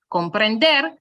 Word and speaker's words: comprender: what it ends with we place the stress on the very last one which is why we say comprender and not um comprender okay so we place it on the last one comprender so let's snap on